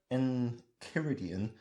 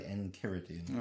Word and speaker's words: Enchiridion: I'd say Enchiridion. That's only because I've been conditioned to pronounce CHI as ki, because reasons.